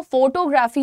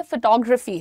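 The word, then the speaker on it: photography: मुझे फोटोग्राफी का शौक है, बट वो फोटोग्राफी नहीं है, फोटोग्राफी है।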